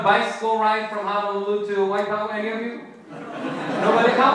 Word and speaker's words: Waipahu: Waipahu.